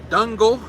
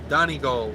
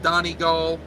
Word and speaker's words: Donegal: at patrick bonner says great dungle dungle pronounced donegal donnie goal okay donegal yeah english english ain't my best language um so appreciate appreciate that uh done it goal easter just read that one sleep better a little background noise pronounced donnie gull uh biscuit c in